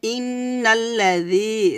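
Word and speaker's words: إِنَّ الَّذِينَ: না ই না এখানে ইন্নাল্লাজি জালটা হালকা করে বলবেন জিহ্বার আগে উপরে দাঁতের আগে লাগাবেন নিচে দাঁতের সাথে লাগাবেন না উপরে দাঁতের আগে লাগিয়ে হালকাভাবে পাতলা করে উচ্চারণ করবেন এবং এখানে এক আলিফ টান দিবেন এটা হচ্ছে মদ তবাই এ মদকে বলা হয় মদ তবাই ইন্নাললাজনা নুন জবর না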